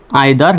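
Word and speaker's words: either: মধ্যে কোনটিকেই বোঝায় না তবে এই দুটির উচ্চারণ আরো অন্যভাবে করতে পারবেন সেটা হলো আইদার নাইদার দুটি উচ্চারণই সঠিক ইদার নিদার অথবা আইদার নাইদার মাই self এমওয়াই মাই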